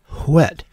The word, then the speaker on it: whet: It used to be pronounced whet, with that little unvoiced h at the beginning.